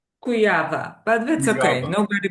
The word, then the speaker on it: Kujawa: So, it's a it's a Polish last name.